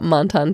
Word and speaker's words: Menton: So we're here to talk about Menton, France, which is apparently the appropriately French way to pronounce it.